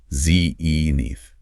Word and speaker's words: zenith: Stress on the first syllable. Zenith.